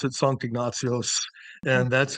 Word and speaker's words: Sankt Ignatios: I mean, yeah, lots of people pronounce it Saint Ignatius. The Swedes pronounce it Sankt Ignatios, Okay.